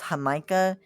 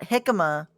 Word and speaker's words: Jamaica: Yes, it's spelled like Jamaica. Um but it's hamaha, not hikima.